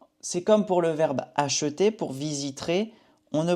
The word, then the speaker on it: acheter: Ici en français, pour le verbe acheter, les natifs disent plutôt acheter. On ne prononce pas le E.